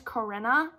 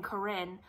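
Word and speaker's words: Corina: wrong this whole time i think it's karina i don't know i think she spells it c-o-r-i-n-a which is karina right and then i've been saying corrine i don't really know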